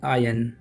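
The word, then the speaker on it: iron: ठीक, नेक्स्ट है strike while the आयन, इसको पढ़ा जाता है आयन। जब आप हिंदी बोल रहे हो तो आप आयरन बोल सकते हो, but when you speak English इस वर्ड का जो करेक्ट प्रोनाउंसिएशन है वो है आयन।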